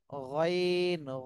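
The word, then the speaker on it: غين: হবে গইন গাইন গলার শেষ ভাগ থেকে উচ্চারণ করতে হবে গাইন গাইন জি এই হরফটা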